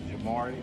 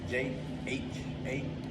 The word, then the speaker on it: Jhamori: How do you spell it? Well, my name is Jhamori. That's Jhamori.